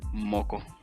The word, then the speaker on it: moco: That's how you say it in Spanish. Moco.